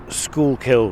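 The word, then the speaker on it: Schuylkill: of it you've got the I'm going to pronounce it school kill River it's spelled s c h u y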